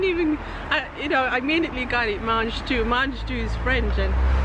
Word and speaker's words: mange tout: have this vegetable called mange tout. Yeah. So, well, we gotta spell it. You gotta spell it because it's pronounced in French.